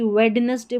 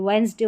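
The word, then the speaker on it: Wednesday: बोलते वक्त भी जैसे कि वेडनेसडे बोल देते हैं। वेडनेसडे होता है, डी साइलेंट होता है।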